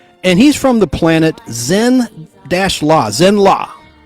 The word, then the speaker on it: Zenn-La: And he's from the planet Zenn-La, spelled Z-E-N-N-L-A, like Louisiana or Los Angeles, L.A.